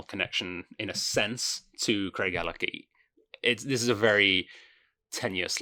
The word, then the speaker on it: Craigellachie: I think it's pronounced Craigellachie, but I have been told that locals call it Craigellachie, but I think I might be having my leg pulled on that one.